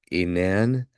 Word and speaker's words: Enan: That A-E right there for the Greek, Enan, that's like Aeneas.